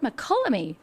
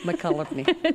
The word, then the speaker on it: Mokelumne: know what, speaking of names, and I don't mean any offense at all, but the word Mokelumne is odd.